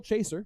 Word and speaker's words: Cheshire: Cheshire watching, tuning in with us. How you doing? It's still Chaser, but you keep saying it wrong.